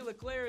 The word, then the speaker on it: Leclerc: Katie bye everybody Katie Leclerc is on Twitter @KatieLeclerc there's a "C" at the end it's silent though yeah you'll have to